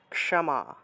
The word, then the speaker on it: ক্ষমা: মনে করেন যে ক্ষমা ক্ষমা শব্দটা আমরা উচ্চারণ করবো ক্ষমা ক্যামা ক্যামা কটা উজ্জ্ব থাকবে ক্ষমা ক্যামা এভাবে ঠিক আছে ক্যামা উচ্চারণ